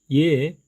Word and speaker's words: ㅖ: 첫 번째 단모음 이, 그리고 두 번째 단모음 예. 지난 시간에 공부했지만 예 발음을 하실 때 혀의 위치가 중간에 위치한다는 거 기억하시기 바랍니다.